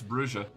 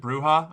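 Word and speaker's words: Brujah: We got an official source on it that it's Brua. I don't know. I already got bullied about this once. I'm not doing it again. I've heard some NPCs pronounce it bruha.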